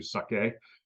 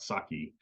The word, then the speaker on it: sake: like the same as you would apply to sake um which is not saki uh as a pronunciation